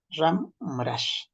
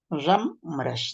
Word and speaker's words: Ramrash: Ramrash, no es Ramcrash, es Ramrash. Ramrash. ¿Y de dónde sale la B, Nelson? La B no existe en el quechua. La B no existe. Ramrash. Algunos pronuncian Rambrash, ¿sí o no? Rambrash. Pero no existe pues la B. Entonces quítale esa B. Ramrash, nada más.